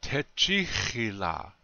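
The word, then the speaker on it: Tečhíhila: So, te chihila means I love you. Again, the accent is still on the second syllable. Te chihila.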